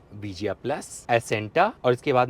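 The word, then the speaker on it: Acenta: तो अगर वेरिएंट की बात करें तो ये गाड़ी विजिया, विजिया प्लस, एसेंटा और इसके बाद में एन कनेक्टा और टेक्ना प्लस, ये इसके वेरिएंट इस तरीके से प्रोनाउंस होंगे।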